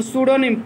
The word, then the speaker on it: pseudonym: तो स्यूडोनिम PSEU, PS लिखो, P silent रहेगा, PSEUDONYM, स्यूडोनिम माने कृतक नाम या छद्म नाम।